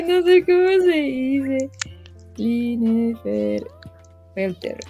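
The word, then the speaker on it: Klinefelter: Clean Felter. Clean Felter. Ah, es Clean Felter.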